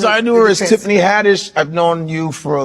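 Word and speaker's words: Haddish: Hadish hadish.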